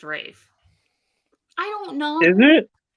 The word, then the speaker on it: Ralph: what no I mean it's spelled Ralph but it's pronounced Rafe I don't know is